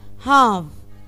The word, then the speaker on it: half: وهنا عندي بص سنة تالتة، انا قلت ايه half، نطقت ايه، نطقت ال no، ال عندي هنا ايه silent مش بنطقه، يبقى الكسر النص، اما تكون حاجة بالنص اسمه ايه a half.